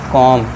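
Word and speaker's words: comb: ओ एम बी सी ओ एम बी भी silent रहेगा उसे हम पढ़ेंगे कॉम ठीक है दोस्तों कॉम यानी कि जो आपका कंघी होती है उसे कॉम पढ़ते हैं।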